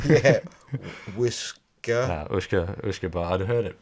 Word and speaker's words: uisce beatha: Uisce beatha. Yeah. Whisker. Uisce. I'd heard it pronounced a few times before at various tastings. And you can see how just phonetically Uisce became whiskey, basically.